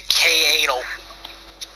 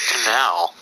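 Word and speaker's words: Kanal: We're going to K-Anal. What? Look at how it's spelled. K-A-N-A-L. It's spelled K-Anal. Who said that? Oh my god. Dude, goodness. It's called Canal.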